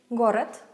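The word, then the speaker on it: город: cupful but deaf consonant my examples are gorot city got it we spell it with a D in the end then but we say got it so it's like T instead if for example we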